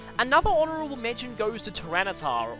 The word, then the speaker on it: Tyranitar: Another honorable mention goes to Tyranitar, or Tyroneator as I thought it was legitimately pronounced when I was a kid.